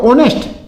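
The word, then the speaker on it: honest: अब देखो ऑनेस्ट ओ की आवाज आ रही। ओ यह ओ। भले यहां पे एच है, लेकिन एच क्या है? साइलेंट है।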